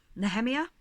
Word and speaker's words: Nehemia: Nehemia, that's how I pronounce her name.